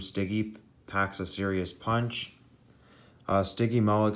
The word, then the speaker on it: Stygimoloch: Stygimoloch, say it like this.